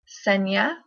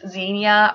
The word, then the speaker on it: Xenia: And number 10, I have Xenia, Xenia, and it is from the Greek word that means stranger.